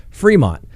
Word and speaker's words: Fremont: in colorado the entire time i know it's pronounced fremont unlike chaffee or chaffee county depending on who